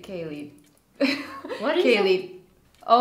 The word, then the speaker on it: Keilidh: What is the right pronunciation? Kaylee. Kaylee, yeah.